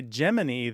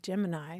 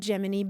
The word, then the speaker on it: Gemini: say if you say geminy then people know that you're at least a little bit of an Insider right right somebody described it as sort of a shth if you say it Gemini yeah but of course it was named geminy because it was a twers Space Capsule that's right and the geminy is the twins right and this relative of